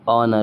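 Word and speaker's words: honour: वहां पे एच के बाद ओ आ गया तो यहां पे क्या हो जाएगा? ऑनर हो जाएगा।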